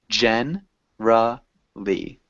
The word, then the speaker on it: generally: often don't pronounce it most people don't pronounce it so it would sound